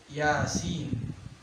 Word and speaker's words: Yasin: Terus kita kalau bacanya ya-nya itu nggak terlalu panjang seperti sin ya. Dalam ilmu tajwid dipelajari bahwasanya ya-nya itu cuma 2 harokat. Kalau sinnya itu adalah yang panjang. Jadi bacanya ya cuma 2 harokat, sin panjang.